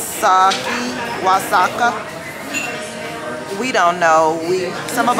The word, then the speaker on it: Oaxaca: It's pronounced with the W. Waxaca.